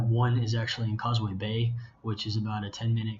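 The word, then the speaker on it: 八: And she talks about how the pronunciation for the word 8 or ba sounds like the word fa, which is the first character in the words of fazan, development, and fakai, to become wealthy.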